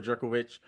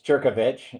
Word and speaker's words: Jurkovich: have my guest jovic with me is that the right way to say your last name it's close you got it close enough it's jerkovich exactly like I thought